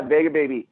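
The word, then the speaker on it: Vega Baja: you end up is that uh is it pronounced vega baby yeah vega baby um again i had because i had been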